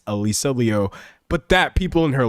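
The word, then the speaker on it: Liu: Someone said um like Alisa Leu is supposed to be pronounced Alisa Leo.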